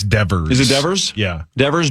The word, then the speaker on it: Devers: Raphael Divers. Is that how you say it? Right. It's Devers.